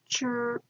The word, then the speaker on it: true: The first vowel does the talking, the second vowel does the walking. You hear true, true, and the E is silent.